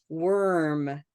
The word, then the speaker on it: worm: warm tawiva wrote what looks like warm it's looks like it should sound the same as these two but this one is different and so back we're